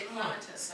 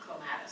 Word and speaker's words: clematis: And I'm sure he would always say clematis and not clematis. Right. If that was his rule, right? Because Yeah. clematis has the accent on the anti-penultimate, so.